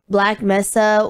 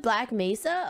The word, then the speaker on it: Black Mesa: myself this time today is it mesa i think it's pronounced mesa black mesa okay black mesa